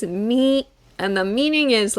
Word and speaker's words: 未: this one with me the pronunciation is me and the meaning is